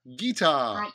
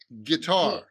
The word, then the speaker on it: guitar: a guitar guitar okay meet hungry after that guitar dee dee but in English we pronounce that as get guitar guitar guitar guitar right okay here we go